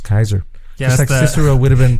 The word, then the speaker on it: Caesar: caesar actually was julius julius and what about pronounced kaiser yes cicero would have been pronounced kikiro that's